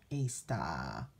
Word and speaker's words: Ishtar: Maybe we should be celebrating Mother Earth now, celebrating Ishtar, not Easter. Although they say Ishtar is pronounced Easter.